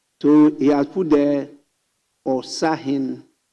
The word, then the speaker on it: Osahin: So he has put there Osahin. It's not Osahine. It's different pronunciation. It's Osahin. There is no hine.